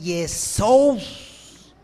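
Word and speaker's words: Ἰησοῦς: Los hombres inspirados escriben el nombre en griego, y el nombre que escriben en griego es Yesous. Así era más o menos la pronunciación que tenían los griegos.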